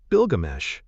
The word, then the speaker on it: Bilgamesh: in the Mesopotamian epic of Gilgamesh or Bilgamesh, as the Sumerians would have pronounced it?